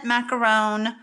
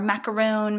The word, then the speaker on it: macaron: then i have the mint macaron or macaroon macaron i'm not really quite sure how you pronounce it there's not two o's at the end so i'm gonna say macaron reinker okay now if